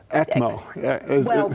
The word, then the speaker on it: ECMO: That acronym, will you pronounce it? I don't know how to. ECMO.